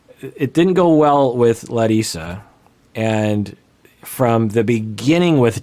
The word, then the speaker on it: Larissa: weren't fighting and by the way i say let isa because that's how she pronounces it and i'm getting a lot of